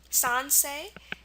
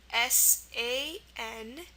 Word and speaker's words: Sansei: See that there's at the end of the word, but it's EI. Nisei, Nisei. Kibei, Kibei, and Sansei, Sansei. So these are those family-related words, and they're probably the only ones that end in EI for the A sound.